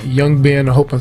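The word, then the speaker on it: Young Ban: So my son is GM at this restaurant called Young Ben. I hope I'm saying it right. Young Ben. And Young Ben? Young Bond or Young Ben, B-A-N, Young Bond.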